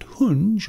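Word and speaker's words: հունչ: Now, the name Karahunge comes from two Armenian words, kar, which is stone, and hunj, or hunch in some pronunciation, means sound.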